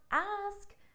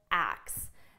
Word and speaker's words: ask: talk about this because I hear a lot of students pronounce ask as acts now they're very similar in pronunciation but you need to make sure you're not confusing them because if you use